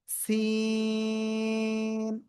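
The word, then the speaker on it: سين: এরকম একটা আওয়াজ হবে, সিন সিন সিন, এভাবে আমরা উচ্চারণ করব। সিন, চার আলিফটা নিয়ে উচ্চারণ করব।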